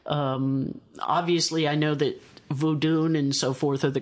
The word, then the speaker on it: Vodun: lot about and um obviously I know that vodun and so forth are the correct pronunciations of these things I tend to refer to the old Voodoo just because so many of the movies I